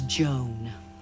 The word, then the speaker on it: Joan: beautiful like her hair my name is joan like moan and groan which rhymes with stone but when my best